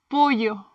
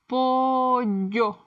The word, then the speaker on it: pollo: Double L, the Spanish Y. In Latin America, we say it like the English Y in yes.